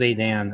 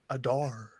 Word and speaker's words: Adar: I thought it was Adan. I forget. Whatever. Adore. But yeah, I he's don't gone. sound like that. No, that's how people pronounce it. Adar.